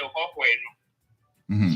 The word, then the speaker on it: Hohoe: The 2H in the Hohoe. So Hohoe is spelled like Hoehoe.